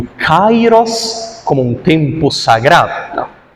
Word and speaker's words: Kairos: A pronúncia certa, perdoem-me a chatice, é Kairos, não é Kairos. Isso aí é aportuguesamento.